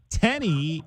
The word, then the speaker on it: Tenny: Uh his name is Nate Tenny. Nate, am I pronouncing your last name correctly? Yeah, you got it.